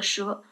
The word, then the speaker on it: 折: 第一个，我按传统的读法读的蛇，取的是断而仍连之意。